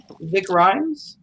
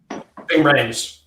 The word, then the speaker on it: Ving Rhames: Is it Vic Rhymes? Ving Rhames.